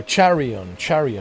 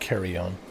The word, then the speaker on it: Charion: Carrion Oh, Charion, not carry on. Carry on.